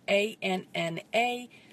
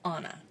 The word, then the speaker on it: Anna: And yes, I have a daughter that her name is spelled A-N-N-A, but we pronounce it Anna, not Anna.